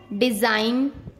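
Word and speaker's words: design: जब एन से पहले जी आता है तब हमेशा जी साइलेंट रहता है। जैसे डिजाइन, रिजाइन, campaign, norm, साइन।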